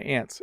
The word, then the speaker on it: aunt: So they are the same. We definitely, like, I have an Aunt Sarah and there are ants on the ground here. So ant and ant. We pronounce them exactly the same way, even though they are spelled differently.